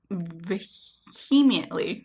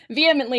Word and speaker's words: vehemently: And yet so many people vehemently believe. The way you said that vehemently is how I say it, but that doesn't mean that's the only way to say it. Vehemently. I don't pronounce the H.